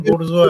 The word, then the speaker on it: bourgeois: This type is क्या ये bourgeois है ना क्या ये bourgeois इसका उच्चारण bourgeois है ये कम्युनिस्टों का टर्म है क्या हाँ कम्युनिस्टों का टर्म है लेकिन फ्रेंच वर्ड है ये bourgeois अच्छा what